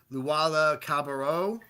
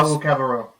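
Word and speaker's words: Luwawu-Cabarrot: Timothy Luwala Cabarro. He Timothée was my. Luwawu Cabarro.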